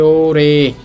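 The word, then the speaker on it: 올해: আমরা আরেকটা নিয়ম শিখছিলাম রিউলের পর হিউ থাকলে রিউলটা হিয়তের স্থানে যায়। তো এই শব্দটার উচ্চারণ হবে ওরে।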